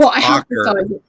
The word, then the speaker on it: oca: And it's ocker. That's how you pronounced it.